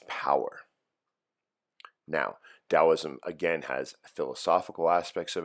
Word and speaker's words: Taoism: Taoism, or Taoism as the British pronounce it.